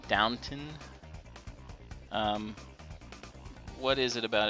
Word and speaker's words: Downton: it about downtown downtown i keep wanting to call it downtown because it just looks like that's how you say it downton um what is it